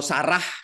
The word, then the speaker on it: Sarah: Ta dalam bahasa ibraninya Kalau bahasa Ibrani hanya itu tidak dibaca ya jadi Tora gitu ya tidak diucapkan tidak keluar bunyinya huruf H kalau ada di akhir sebuah kata Jadi mereka menyebutnya Tora gitu ya atau kalau Sarah kita katakan Sara begitu nah Tora dalam